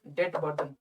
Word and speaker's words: debt: तो जो कर्ज का जो बोझ है ना, बोझ, डेट बर्डन, ये कम हुआ है। इसको इंग्लिश से लिखना, इंग्लिश में लिखना, DEBT, डेट, ठीक है, बी साइलेंट होता है, बर्डन, BURDN, बर्डन, ये कम हुआ है, एरो नीचे कर दीजिए।